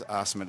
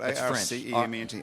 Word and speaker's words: Arcement: Hey, what kind of a name is Arcement? It's spelled A-R-C-E-M-E-N-T, Arcement. It's Arcement, yeah.